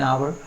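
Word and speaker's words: hour: He will be back in एन आवर, H again consonant है but silent है, इसलिए हमने एन का यूज़ किया हुआ है।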